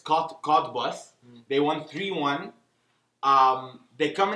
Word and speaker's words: Cottbus: It almost sounds like Cotton Buds, but it's Cottbus.